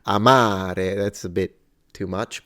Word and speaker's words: amare: word to love Amar it's clearly that the first a is shorter than the second so there is a quantity variance there or variable rather than a quality Amare Amare now I don't have